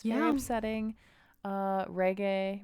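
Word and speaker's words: Regé-Jean: it's very upsetting uh reggae reje i thought it was reggae okay right right that's how i've heard it pronounced john paul or something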